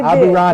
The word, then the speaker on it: Aburaneh: get your name right, didn't I, when I pronounced your name? Yes, you did. Yes, you Aburaneh.